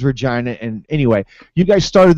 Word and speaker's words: Regina: So, you know, it reads Regina to me, and I knew it was Regina.